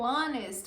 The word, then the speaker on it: honest: Percebam que o honest, o H é silencioso, nós não pronunciamos ele.